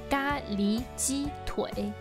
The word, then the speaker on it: 咖喱鸡腿: La prononciation chinoise du plat est ga li ji tui. Ga li veut dire curry. Il vient de la prononciation curry en anglais. Curry, curry, curry, ga li.